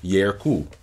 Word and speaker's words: yerku: For example, initial e is pronounced ye. For example, yerku, two.